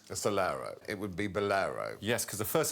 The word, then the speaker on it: Bolero: music it's one word first syllable sounds like Lads Lads Lads does not sound like beer the first syllable of Bolero does not sound like beer it sounds like an ice cream also we do